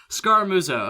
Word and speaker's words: Scaramuzzo: So Scaramuzzo. Okay, just a couple syllables there.